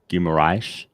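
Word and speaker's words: Guimarães: It's Guimaraes. If you play FIFA and you use the player from Newcastle, you'll hear the announcer say the Portuguese pronunciation of the name.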